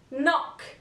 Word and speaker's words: knock: all right letter K the letter K is always silent before the letter n for example knife knock knowledge letter L this letter